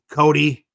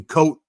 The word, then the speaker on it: Cody: Good morning, Cody. We Vinny and I were calling you Coat, and you're like, no, it's Cody.